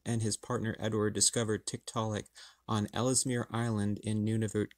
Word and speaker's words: Tiktaalik: show us one get comfortable said tick telic Tiktaalik that's how they pronounce it Tiktaalik well that was easy any other questions and